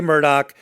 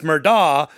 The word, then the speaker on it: Murdaugh: corrected us many times because we say murdoch many are saying no it's murdah from hampton what do